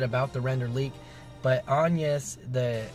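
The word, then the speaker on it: Agnès: Chorus Kids, and Agnes, and Agnes is how you pronounce her name. Thank you to whoever it was, but they corrected the name. I said Agnes before, but her character name is Agnes, and that's how it's pronounced, so you guys know now.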